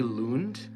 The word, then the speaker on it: Lund: this guitar player L Lund um I think I don't know where he's from he might be from Denmark um l a g l u n d I think he say his name Lun um he's just like